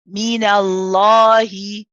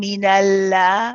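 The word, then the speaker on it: من الله: We lift a bit of the back of the tongue when we want to say the lam. Minallahi. So we're not saying minallah. We say minallah.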